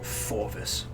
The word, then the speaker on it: Fjorvis: Speak with the broker named Forvis. That's spelled Fjorvis.